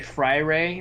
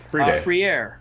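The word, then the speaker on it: Freire: pitball brother's last name i always would say friday or friday because i know how to say it free air yeah it's like yeah it's it's kind of free air but like that's also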